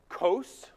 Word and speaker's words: Qos: have a single god and they called him kos qos is how we spell it and he is near identical to the